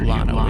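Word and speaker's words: Llano: The uninorporated community of Lano is pronounced with an L despite its Spanish origin.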